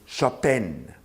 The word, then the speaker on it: Chopin: as you just heard of Frederick Chopin or as his polish compatriots pronounce his name Frederick Chopin one consider Chopin from